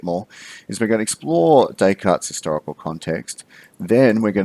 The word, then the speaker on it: Descartes: to look at is Rene Descartes do not pronounce it there's cut heads it is Descartes and today we're going to familiarize ourselves with